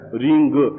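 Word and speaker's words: ह्रीं: ओम ओ रीम देखिए मैंने आप में री म शब्द उच्चारण किया है रिंग ऐसा भी बोला जाता है इसलिए रीम बो रीम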